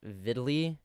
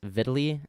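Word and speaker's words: Vidlii: fans are from just it's pronounced viddly Oh I thought it was three eyes vidaly okay I don't even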